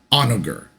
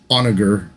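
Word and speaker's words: Honoghr: And then I tend to think it's Onager, but the American in me wants to say Onager. but I think it's probably Onager.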